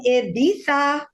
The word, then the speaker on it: Ibiza: flamberg guys i'm coming to you live from ibiza that's how locals say it that's right ibiza hello or olaf